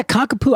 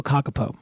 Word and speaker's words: kākāpō: cocka kakapo kakapo yeah kakapo I've actually heard uh two different pronunciations so I'm going to go kakapo or kakapo depending on which I say